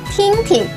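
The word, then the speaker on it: 听听: can be reduplicated as tinking pay attention that p is a single syllable and the second tin is pronounced in a neutral tone third tone means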